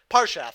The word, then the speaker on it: Parshath: Jake, you're good at pronouncing. What? What? How do you Uh, say this card? Parshath? Parshath, yeah.